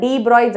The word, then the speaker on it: de Broglie: ஸோ இது வந்து spelling தான் டி ப்ராக்லீஸ் அப்படின்னு இருக்கும். ஸோ ஆனால் நம்ம அதை ப்ரொனவுன்ஸ் பண்ணும்போது டீப்ராய்ஸ் அப்படின்னு தான் சொல்லுவோம்.